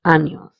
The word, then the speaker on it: años: Hence, the sound of this word is años.